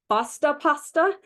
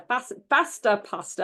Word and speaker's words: Fasta Pasta: But if y'all have never heard of or never seen a Fasta pasta, it's F-A-S-T-A, like pasta, but with an F in front of it. A Fasta pasta.